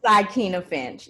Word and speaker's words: Aikyna Finch: so i won't say it wrong this is ikea finch yes thank you very much thank you both